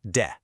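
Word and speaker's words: で: The particle de pronounced de.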